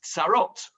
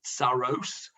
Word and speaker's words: tsarot: Tsoros is actually the plural, because the plural of tsar is tsarot. And if you pronounce that with an Ashkenazi pronunciation, it's tsaros, and then it's not very far to get to the Yiddish of tsoros. Okay, so tsar, ki tsar lo.